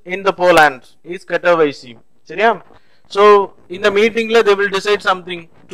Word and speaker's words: Katowice: The pronunciation in the Poland is Katowice.